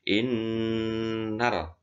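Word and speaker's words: إنّ: Inna itu harus tebal, ya, harus double karena ada tasdid. Innal.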